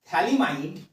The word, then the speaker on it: phthalimide: এবার আমরা কিছুদিন পর একটা নেম রিয়াকশন শিখবো যেটার নাম হবে গ্যাব্রিয়েল থ্যালিমাইড অমিন সিন্থেসিস গ্যাব্রিয়াল থ্যালিমাইড অমিন সিন্থেসিস এখানে থ্যালিমাইডের উচ্চারণটা বলে দিই পিএইচ এর উচ্চারণটা হয় না সোজা এখান বাকি পার্টটার